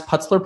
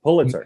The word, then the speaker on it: Pulitzer: Tracy Letts was also, I believe, a Tony Award winner as an actor and how do you pronounce Putzler Prize? Pulitzer. Yeah. Pulitzer, right?